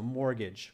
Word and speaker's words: mortgage: okay is your mortgage the T is silent don't pronounce it so mortgage okay it's a special